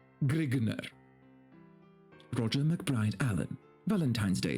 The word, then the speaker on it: Grignr: the convention is that grignard is pronounced grigner roger mcbride allen valentine's